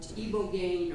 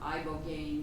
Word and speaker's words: ibogaine: I read an article there, and it was about ibogaine or ibogaine, depending on how you say it.